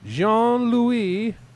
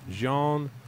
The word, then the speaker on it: Jean-Louis: uh but anyway nonetheless in studio we've got Jean Louie SE I'm an idiot I don't I even